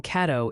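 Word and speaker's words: Caddo: Some folks are saying Kado is pronounced like cat.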